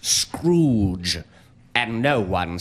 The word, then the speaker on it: Scrooge: more generous than Mr Marley except for Mr scrudge Scrooge Madam it is pronounced Scrooge and no one says that well I'm sure